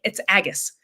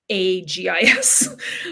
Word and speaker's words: Agus: Just like with the character, with the elven character, who is one of my favorite characters, it's Agus, even though it's pronounced by my computer Agis.